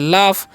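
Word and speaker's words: laugh: right ठीक है आगे लिखा हुआ है एल ए यूजी तो इसे हम क्या पढ़ते हैं इसे हम लोग पढ़ते हैं लाफ लाफ का मतलब क्या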